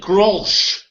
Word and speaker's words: Grolsch: Now, I pronounce it Grolsch.